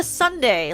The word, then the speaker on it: sundae: Sun I was like I was about to try to pronounce Sunday like it was like some sort of Asian word I was like Sunday it's a sunde like as in like an ice cream sunnd this picture is just